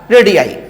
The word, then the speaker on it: radii: रेडियस का बहुत सारा नेचर क्या होता है, रेडियाई। क्या होता है, रेडियाई।